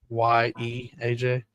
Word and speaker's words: Ajaye: I'm going to say AJ. It's AJAYE, AJ.